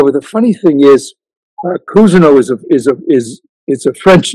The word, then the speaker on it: Cousineau: because they don't know how to pronounce Cousineau. And then every once in a while, a receptionist will say, Mr. Cousineau. And I'll say, oh, you must have studied French.